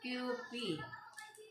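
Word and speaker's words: Kewpie: So ang tamang pronunciation pala dito is QP.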